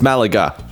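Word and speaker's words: Málaga: I said it correct. Don't correct me. No, that's how you say it. It's Malaga.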